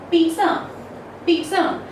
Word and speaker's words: pizza: Okay, so the pronunciation goes in the way pizza, pizza. You notice over here that there is a slight T sound. Okay, it is not pizza, it is pizza.